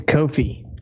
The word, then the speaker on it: Ko-fi: so I can learn it's Kofi Kofi okay Kofi seem it's got a coffee cup yeah well I thought it was coffee okay I think I said Kofi it's Kofi the people there call